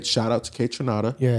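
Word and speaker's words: Kaytranada: K Tranada. Trinada. Kronada. Kranada. Tranada. Nice. K. Okay. Person that that I I want to say shout out to K. Tranada.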